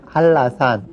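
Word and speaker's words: 한라산: 그래서 한나산이라고 쓰지만 발음할 때는 할라산 이렇게 발음을 하고요.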